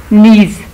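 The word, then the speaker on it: knees: Ball and hurt his नीज. अब इसमें देखें कौन से लेटर्स जो हैं वो साइलेंट हैं. इसमें शाबाश. इसमें वाइल में एच, कैचिंग में टी और नीज में के.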